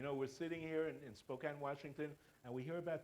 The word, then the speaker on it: Spokane: for them what can you practically do from Spokane Washington am i pronouncing right and that's Spokane okay I've learned I've learned I've learned right